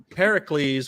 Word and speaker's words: Pericles: is it says yeah it's pronounced Pericles rhymes with Heracles whom Sarge was confused